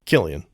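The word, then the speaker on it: Cillian: Like for example, I always say this guy's name wrong. Silly Murphy. Is it Sillian Murphy? Killian. Killian. Dang it.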